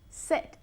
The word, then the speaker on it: said: But yesterday I Said. said. Es un sonido vocal muy, muy corto.